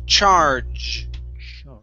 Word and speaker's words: charge: Okay, we do not pronounce g, it's j. So this word sounds like this. Charge.